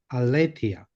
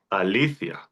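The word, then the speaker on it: ἀλήθεια: The stressor is on the second syllable, the All right. So, althia, althia althia, bravo.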